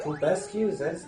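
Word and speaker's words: Kelbesque: So I was going to say, Kulbescu, is that his name? Kilbesk is how I pronounce it.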